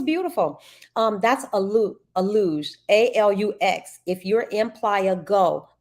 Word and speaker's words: Alux: a must do and I believe it's pronounced a luge Angela went we all